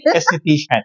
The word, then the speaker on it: aesthetician: esthetician esthetician ay I ba yung anestesia Okay aesthetician Ayun po yung tamang pronunciation po Paano naman kayo nag-start po dito